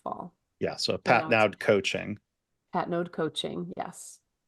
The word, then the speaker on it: Patnaude: common thing but yeah it's a French Canadian name so it's pronounced Pat node Pat node okay um so Ellen